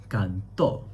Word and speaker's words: canto: And that makes the word different from canto which is song as well where the stress syllable is can.